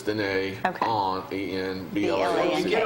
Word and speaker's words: Dîner: It's spelled like dinner, but it's Dîner Okay.